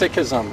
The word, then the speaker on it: Sikhism: It's actually pronounced Sikhism, but if you hear it in media...